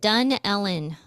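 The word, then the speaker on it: Dunnellon: or in the panhandle and you say it done ellen is how you say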